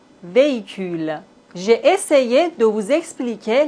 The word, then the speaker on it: véhicule: Dans la langue française, on ne prononce pas le H comme si ça n'existait pas du tout. Homme, hôpital, hôtel, véhicule.